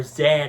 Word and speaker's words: Z: we see Z there or Zed however you want to pronounce his name I call him Z I know technically it's Zed but I'm gonna say Z because I'm a typical American boy so yeah we see